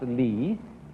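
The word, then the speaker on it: 理: world remember this word which is pronounced Lee and which had as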